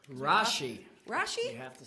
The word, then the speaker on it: Rasche: you you're welcome so let's talk about rash Rashi Rashi have to say my name right thank you